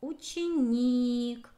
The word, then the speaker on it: ученик: Следующее слово — ученик. Ударение падает на букву И. Должны запомнить букву Е.